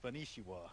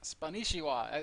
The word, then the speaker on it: Spanishiwa: So, it's Spanishiwa. Spanishiwa. I suspected it was like that because you told me it was like a play on Yeah, Konnichiwa.